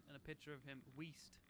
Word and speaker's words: Weast: He basically sent two pictures of him when he was like fat and a picture of him, Weast, not Yeast.